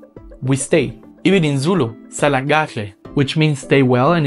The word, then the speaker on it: Sala: stay even in Zulu Sal which means stay well and is a way to say goodbye and you know in that one I also have an implosive Sal and also phonetically speaking